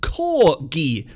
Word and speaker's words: cor: The word ki mutated to gi, and it is the same with corgi.